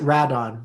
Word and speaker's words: Rodan: Well, they pronounce it Radon when you're watching it.